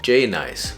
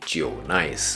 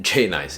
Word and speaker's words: JNICE: J and Ice J and ice isn't actually pronounced J nice but actually Jo nice but to help with pronunciation J nice is okay and they are a brand that